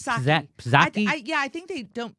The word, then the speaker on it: Psaki: Paskey? I think it's Psaki. Psaki? I think they don't pronounce the P for some Neera reason.